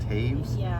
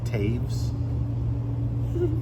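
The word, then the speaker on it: Toews: yes do you know that's pronounced Taves t o e WS I know it's pronounced Taves t o e ws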